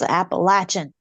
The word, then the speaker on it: Appalachian: people to stop saying Appalachian. I'm like, there's no sh in there. It's Appalachian. It's like, think of Eve throwing an apple at, Adam, Appalachian. Throw an Appalachian.